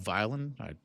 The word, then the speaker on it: Vylan: And so somebody by the name of Bob Violin, I like to say it's spelled vy ln.